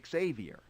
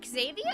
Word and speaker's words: Xavier: My name is Xavier. It's pronounced Xavier? I thought it was just Xavier.